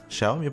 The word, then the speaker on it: Xiaomi: que encontrado algo si se pronuncia xiaomi jaume pues hombre y una